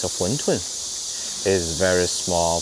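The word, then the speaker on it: 馄饨: And the Chinese pronunciation is Huntun.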